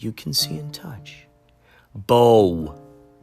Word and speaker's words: bow: can see and touch bow pronounced like cow bow pronounced like cow